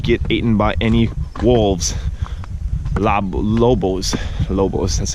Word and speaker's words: lobos: Lobos, that's how you say it in Spanish, lobos.